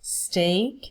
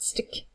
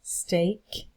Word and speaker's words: steak: Soup, salad, sandwich, burger, chips or fries in the US, steak, not stick, steak, chicken, fish, rice, pasta and vegetables, fruit, cake, ice cream, coffee, tea, water, juice, beer and wine.